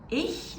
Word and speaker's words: ich: And ich is pronounced at the back of your throat when your throat is really, really tight. So there's only a little space for the air to flow through.